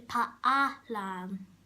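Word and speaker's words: paalam: You might say palan, but in the Philippines we say paalan. We say every single letter.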